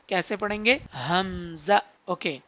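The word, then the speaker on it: همزة: तो इस लेटर को भी हमने जल्दी रीड करना है, हमजा। कैसे पढ़ेंगे? हमजा। ओके, तो अब हम इसका भी पॉइंट ऑफ प्रोनाउंसिएशन देख लेते हैं। हमजा का पॉइंट ऑफ प्रोनाउंसिएशन है हमारे पास बॉटम पार्ट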